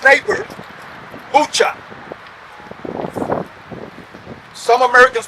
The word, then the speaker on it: Bucha: During the Battle of Irpin, the first account of Russian atrocity against civilians occurred here at its neighbor, Bucha. Some Americans pronounce that Bucha, but it's actually Bucha.